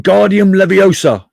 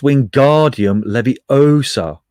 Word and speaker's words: Wingardium Leviosa: much more luck when guardium leviosa he shouted waving his long arms like a windmill you're saying it wrong how he heard hermione snap it's wingardium leviosa make the guard nice and long you do it then